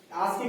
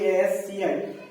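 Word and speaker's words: ASCII: এটাকে আমরা ঠিক আছে কিন্তু আমি আগে উচ্চারণ করি এস সি আই কিন্তু এটার প্রোনাউনস বলে আজকি এ এস কে ডবলই ঠিক আছে আমরা এটাকে বলি কিন্তু আজকি ঠিক আছে এখন এখন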